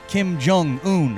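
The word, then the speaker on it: Kim Jong-un: them were hanging out who two Putin and Kim jung-un I think is how you say his name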